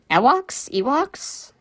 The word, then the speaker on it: Ewok: And there's, like, a whole tribe of these little guys called Ewoks? How's it pronounced? Hold on. Okay, Google is telling me that it's pronounced Ewok.